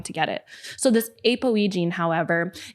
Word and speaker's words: APOE: protein apoe was mentioned it's spelled a p OE but it's usually pronounced apoe does that sound familiar